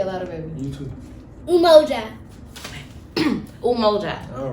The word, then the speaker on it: umoja: meaning for that the actual swahili word is umoja exactly so it's and that represents unity and